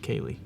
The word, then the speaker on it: Kaylee: I think I've been saying Katie. I just realized it's Kaylee. So I'm sorry if I've been saying your name wrong.